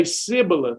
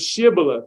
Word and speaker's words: shibboleth: they cannot pronounce it they would say sybileth instead of shibboleth because they their dialect they couldn't pronounce it so they would then